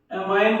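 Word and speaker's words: amine: तो इसका नाम क्या है, अमोनियम डाई एमाइन बोल दो या एमीन बोल दो, जो मन करे वो बोल दो, लेकिन स्पेलिंग सही लिख दो बोलने से, ठीक है।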